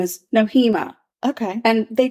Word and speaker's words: Nohema: it than I am is it noima noima but they say it fast and it just like it flows beautifully right last name Graber noema I'll remember that noema